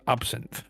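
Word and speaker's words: absinthe: It is pronounced absin.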